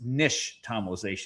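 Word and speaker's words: nixtamalization: It's an Aztec word and the X is actually sh. So it's nish tomalization.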